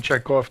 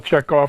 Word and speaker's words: Checkov: information on Checkoff 2?